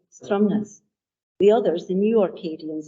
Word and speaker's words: Stromness: In a provocative essay, Stromness, Morag McInnes points to the fact that real Orcadians, old Orkney folk, say Stromness.